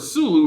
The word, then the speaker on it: Sulu: That sounds like a big problem, because that word Sulu rhymes with Zulu.